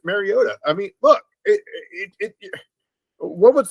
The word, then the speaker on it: Mariota: Look, even Tirico was saying it right. It's just Mariota.